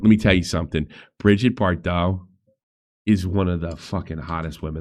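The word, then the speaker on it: Bardot: Bridget Bardau is one of the hottest women that ever lived. One of the hot Bridget Bardau son uh Bardau it's pronounced.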